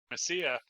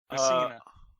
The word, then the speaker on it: Messina: 1/3 of the band, her and her two teachers, Loggins and Messia, which is a reference to Kenny Loggins. His band. Loggins and Messia. Messina. I've been saying it wrong this whole time.